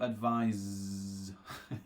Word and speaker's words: advise: is different okay so the noun has the S pronunciation and the verb has the Zed pronunciation okay so so far